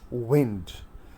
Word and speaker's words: wind: you will say that it is pronounced as wind the trumpet of a prophecy or wind if winter comes can spring be far behind so in order to rhyme this went with behind so we will pronounce